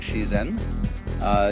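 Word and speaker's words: 自然: Dai zhiran, or the Japanese pronounce it shizen, is roughly when they point to all the things happening around us, that's zhiran.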